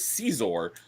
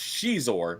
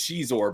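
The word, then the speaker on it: Xizor: antagonist of that was caor and I found out just recently it's actually pronounced Shor which I don't like that pron pronunciation I like cizor better but it is Shor but he was he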